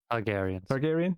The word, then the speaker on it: Targaryen: Targaryen, there you go.